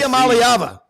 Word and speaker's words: Iamaleava: but Rob, one of y'all is going to have to pronounce Nico's last name, but Tennessee. Iamaleava.